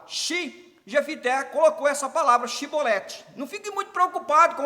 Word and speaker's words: chibolete: Olha lá, diz assim, então lhe diziam, dize pois chibolete, porém ele dizia cibolete, porque o não podia pronunciar assim bem, não podia pronunciar, não é por causa da palavra, que significa a palavra, né?